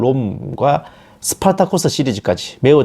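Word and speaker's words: Spartacus: 바로 1960년 작 영화 스파르타쿠스 흔히 습할 타 커 스 라고도 헤어 그 영어식 발음을 달라졌네요 그리고 2000년 자 글래디에이터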